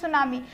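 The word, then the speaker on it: tsunami: है आपका क्या D first letter of D world सुनामी इस साइलेंट ठीक है तो अगर हम देखेंगे सुनामी तो हम क्या बोल रहे हैं सुनामी टी को हम क्या कर रहे हैं नहीं प्रोनाउंस कर रहे हैं तो यहां पर टी क्या है आपका साइलेंट है मतलब उसको उसे नहीं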